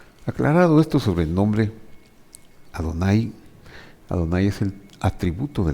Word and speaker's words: Adonai: Lo que los inventores de estos signos vocálicos querían dejarnos transmitir es que cuando este nombre aparezca con estos signos, se pronuncia Adonai.